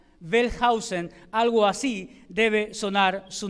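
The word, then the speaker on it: Wellhausen: muy muy difícil pronunciarlo aunque dicen que la W se pronuncia como una b chica bellhausen algo así debe sonar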